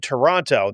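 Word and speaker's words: Taranto: of Toronto in Canada, but it sounds like if you were from Minnesota and said Toronto, that's how it's supposed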